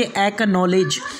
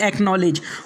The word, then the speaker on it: acknowledge: इसके बाद में पांचवा रूल्स है, अगर सी के बाद के या क्यू आ जाए तो सी को नहीं पढ़ा जाएगा। जैसे कि एक्नॉलेज, ACKNOWLEDGE एक्नॉलेज, उसके बाद में एक्वायर, उसके बाद में एक्वाइंटेड।